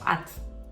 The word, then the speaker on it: от: Muitas vezes a gente vai pronunciar ela como at. Ela vai virar meio que ato, né? Ot não é tão comum